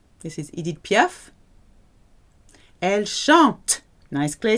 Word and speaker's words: chante: Il ou elle chante. Silent E and T, but a very clear T sound, chante.